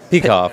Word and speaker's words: Peikoff: We talked to you yesterday to give us a little introduction maybe to Kira Peikoff, who's... am I pronouncing that correctly? Peikoff, I do believe, yep.